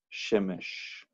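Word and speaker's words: שֶׁמֶשׁ: Pero si vemos dos segol juntos así, regularmente, el acento cae en la primera sílaba, Shemesh. Okay.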